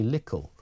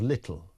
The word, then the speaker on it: little: And Cliff says, Cliff in Berkshire says, the word that people mispronounce which winds me up is little when they say lickle instead of little.